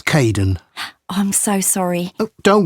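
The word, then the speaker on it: Kaeden: welcome to the team hi Aiden uh it's Caden I'm so sorry oh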